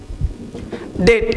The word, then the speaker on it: debt: उस कमेंट में पर्टिकुलर आपने पूछा था कि सर डी, आपने लिखा था DEBT डेट, इसको बी चुप क्यों रहता है, मतलब साइलेंट होता क्यों है?